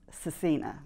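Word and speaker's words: Scecina: Okay, so it's pronounced Cecina.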